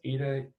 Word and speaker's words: eta: eta variable yeah so this greek letter is pronounced as eta eta and this is one